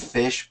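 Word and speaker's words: phishing: it spell it said fish but it's spelled p i sh and that's what we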